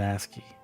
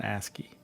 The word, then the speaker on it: ASCII: Sorry, it's an asy. I always have to I always say it wrong. It's an asky.